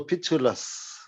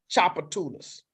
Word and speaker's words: Tchoupitoulas: for something no so the t is silent the t is solid and that the word is pronounced Chopper Tunas so you got it